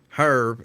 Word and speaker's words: herb: It's herb. It's herb. The H is silent, mister.